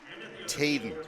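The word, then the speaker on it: Tjaden: introducing the couriers now tayden that's how we're going to say it Dave t j a d e n I think they said tayden okay okay that's my fault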